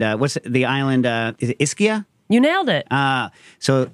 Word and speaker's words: Ischia: butcher anything just just tell me how it's pronounced just literally interrupt and uh what's the island uh iskia you nailed it uh so okay so this